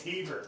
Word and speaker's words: haver: I always said Haver. Haver. It's heaver. Heaver.